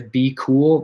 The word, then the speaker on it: BQool: So other than that, I would recommend looking into Be Cool. That's spelled BQOOL.